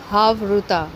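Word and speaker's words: חברותא: कहते हैं यह रमिक जबान का अल्फाज है हाव रुता अगर हम इसे स्पेलिंग करेंगे तो यह है एच ए वी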